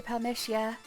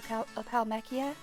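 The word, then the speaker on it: Palamecia: Just like whenever I say Palmytia, it's actually supposed to be Palmechia. It's a hard C.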